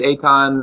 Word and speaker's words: Eitan: Yeah, just the EI is an A sound.